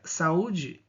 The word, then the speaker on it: saúde: E a segunda, saúde, saúde. Nós temos aqui ó, a penúltima sílaba mais forte e ela é por ser um hiato acentuado, certo?